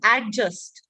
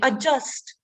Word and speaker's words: adjust: simple word isn't it do we pronounce it as adjust no right the d is silent adjust so such simple words